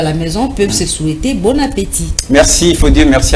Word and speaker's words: bon appétit: qui est à table très souvent les gens disent bonatti pourtant il ya et qui est placé d'un accent aigu donc il faut prononcer bon appétit et l'ombre merci merci